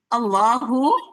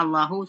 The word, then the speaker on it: Allah: Itu tadi bacanya Allahu, seharusnya Allah. Iya. mau dibaca Allah Allah. ya nih. Iya, tadi dibacanya Allahu.